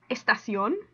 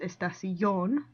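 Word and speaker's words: estación: mark on the o this one also breaks rule number one the stress is on the last syllable not the next to the last one so that's why it's estacion not estacion okay so words that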